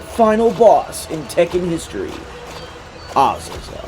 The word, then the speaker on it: Azazel: boss in Tekken history oel I was referring to him before as isil but apparently the game pronounces it oel so we'll go with oel and now that that